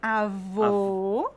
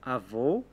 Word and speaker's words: avô: bolo e jogar bola Vamos repetir avô fechado avó aberto avô avó isso ok o